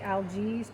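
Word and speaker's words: Algiz: more correct pronunciation is Ellie's that's spelled a-o-g-i-z that I'm an expert at you know pronouncing these foreign languages I do think the G is more like a y sound that for those of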